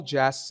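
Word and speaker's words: جاز: It must be noted that in Persian, the word jazz is pronounced as jaz and refers to the drum set, because the primary instrument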